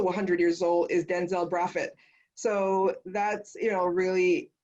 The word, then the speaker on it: Brathwaite: Now let me stay with the name Brathwaite. Indeed, with a Barbadian pronunciation, it would have been said as Braffett.